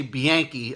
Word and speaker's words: Bianchi: Down there in New York, they say Bianchi. I think that's because my dad likes the fact that it rhymes with Yankee, and he's a long,